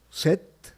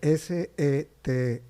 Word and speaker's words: Seth: sociales bueno en redes sociales yo estoy como set mi nombre se escribe s e t h set sed así estoy en